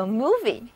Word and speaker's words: movie: 因此英语中电影这个单词就叫做 movie， M-O-V-I-E，它里面也含有 M-O-V